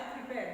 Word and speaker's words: prepare: do you listen i prepared this query myself prepare you know that foreign here prepare prepare no prepare no prepare this is well see if it is work stress is on second syllable prepare ok let us